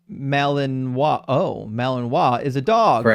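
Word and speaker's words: Malinois: Me says, "Belian Malanino, pronounced Malininoa."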